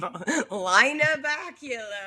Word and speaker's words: Lynna Baculo: But in your case, it would be like, Lynna Baculo, cat owner. I hate that you mispronounced my name. Lynna Baculo. Well, didn't we go over that? That's what my car calls you, Lynna Baculo.